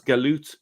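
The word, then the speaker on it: جالوت: Now, you can see here that the translator, the word in Arabic is jalut. That's pronounced as galut in Egypt, right?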